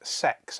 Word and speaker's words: CeX: here called cex now technically it's pronounced sex as it says in their adverts turn your old games